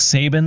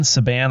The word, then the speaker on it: Saban: started doing good for the Seahawks also Nick Sabin Saban I know how you say his name he